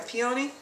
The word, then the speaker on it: peony: almost looks like a peony. Peony or whatever they call them out here. We call them pineys where I grew up, so I never say it right.